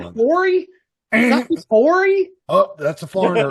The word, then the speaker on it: Horry: The H is silent. Isn't it Horry?